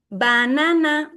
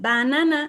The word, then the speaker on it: banana: And also banana, this is not the correct pronunciation. Banana, no. This is banana. So in the first and in the third, we have to use schwa sound.